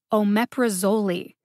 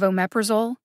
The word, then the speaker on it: omeprazole: one on twitter about omeprazole not too long ago links to both of those are in the show notes here's some examples of ones that i have actually heard omeprosoli instead of omeprazole and victrola instead of